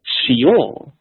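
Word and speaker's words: שְׁאוֹל: The word for grave is Sheol. Shaul, Sheol. And in Hebrew, it's spelled the exact same.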